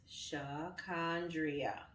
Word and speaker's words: Shacondria: correct them it's pronounced shacondria no silent letters no accents preferably pronounced with the draw of a southern accent it just sounds so